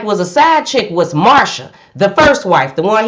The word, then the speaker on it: Marcia: broderick jr now marsha even though i was calling her marcia because her name her name is spelled m-a-r-c-i-a so i assumed it was marcia but then speaking to mary mary said no it's marsha her name is marsha so marsha she didn't